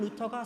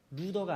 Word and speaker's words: 루터: 루더가 아니라 루터.